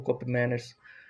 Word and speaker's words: Koopmeiners: Enfim, é essa a situação do Cop Miners. Cop Miners, Miners, né? Eu me informei a pronúncia certa.